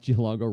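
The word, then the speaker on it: Giallongo: oh did i say zach geelongo rhymes with tombow that's funny that's a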